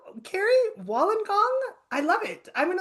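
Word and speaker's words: Wollongong: And I am going to say it wrong because I'm not from Australia, but is this Wallenong Carrie? Wallengong.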